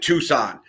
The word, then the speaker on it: Tucson: Like, bro, we pronounce it Tucson. But that's the thing. Like, I got it right the first time. I said Tucson the first time, and then I went, I'm